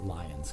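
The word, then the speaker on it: Lyons: lions michigan lions leone i assume you pronounce it lions because you're american yeah he said it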